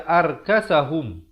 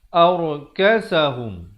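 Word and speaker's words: أركسهم: Ra di sini dibaca tebal. Jangan baca ar. Ramai baca arkasahum. Yang sebetulnya ialah arkasahum. Beza ar dengan aur.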